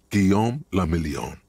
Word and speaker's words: Guillaume la Million: Guillaume la Million. If it doesn't rhyme, you're not pronouncing it right.